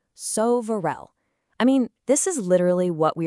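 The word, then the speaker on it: սովորել: All right, now for a verb that is especially relevant for us right now, sovarel, which means to study. Check out that pronunciation, sovarel.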